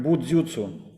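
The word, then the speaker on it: 武術: это произносится как будзюцу.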